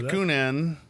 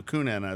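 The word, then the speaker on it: Kuhnhenn: beer you'll follow that this is the coonan I think that's how you spray so it's spelled k-u-h-n-h-e-n-n so kunana is what I'm going to call it okay if I'm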